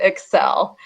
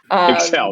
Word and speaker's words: ECCEL: and emotions lab and we do pronounce it excel excel there we go yep